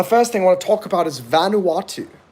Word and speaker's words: Vanuatu: to talk about is Vanuatu Vanuatu it's four syllables it's an island nation